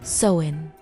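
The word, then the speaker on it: Samhain: And as the last crops were harvested and the cold nights grew longer, they celebrated a sacred festival called sin, pronounced sen.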